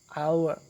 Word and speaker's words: hour: siri koim and zoom sometimes the little edge is silent at the beginning of a word for example our hour bangkang h how